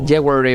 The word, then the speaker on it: jewelry: De hecho, lo puse en Google ayer a ver cómo era la pronunciación y la W no se pronuncia. Es como jewelry bar. Es como una E súper larga, ¿no?